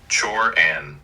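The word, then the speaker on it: Cioran: Emile Sirin, pronounced Chore an Roughly, was a Romanian philosopher born in 1911, died in 1995, who later lived in France, and wrote in French.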